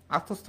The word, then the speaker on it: আত্মস্থ: এয় ম ফলা হবে আত্মস্থ বানানে কিন্তু মফলা আমরা উচ্চারণ করি না মফলা আমরা উচ্চারণ করি